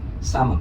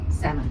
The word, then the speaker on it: salmon: Salmon. Salmon. That's right. So some people say actually salmon. What's the reason behind it? The L is silent. You don't pronounce the L.